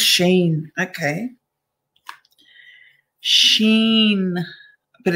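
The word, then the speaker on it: SHEIN: Oh, it's pronounced Sheen. Okay, Sheen, but it's spelt like that, Shine, but it's Sheen.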